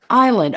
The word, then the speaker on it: island: spell it il AMV it's like Isle like walk down the aisle in a movie theater